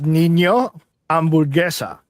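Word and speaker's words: Niño Hamburguesa: Nino I can't even fucking pronounce it. What Eddie said. Listen. It's Nino Hamburguesa.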